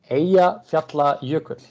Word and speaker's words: Eyjafjallajökull: Yeah, I mean Eyjafjallajökull, but it wasn't such a big deal for us. How pronounced again? Eyjafjallajökull, Island Mountain Glacier.